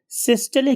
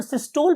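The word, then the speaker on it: systole: कि इस particular ventricular सिस्टले की वजह से, अच्छा, बहुत से जो हमारे यहाँ के लोकल कन्वेंशनल लोग हैं वो इसे वेंट्रिकुलर सिस्टोल भी बोलते हैं, but actual pronunciation is ventricular सिस्टले।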